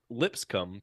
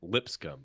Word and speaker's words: Lipscomb: The Ducks actually practice at Lipscomb this morning. I always pronounce that wrong. Lipscomb.